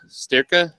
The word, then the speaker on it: Sterka: a review Stratos or sterka how do you pronounce that it's sterka sterka stick yeah okay you know like like a cow a steer and then akka well I'm not from Texas